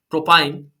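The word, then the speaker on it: propyne: इसी तरीके से अगर जो है ट्रिपल बॉन्ड होगा कार्बन कार्बन के बीच में, तब आप जो है उसको प्रोनाउंस करोगे इथाइन, प्रोपाइन, ब्यूटाइन।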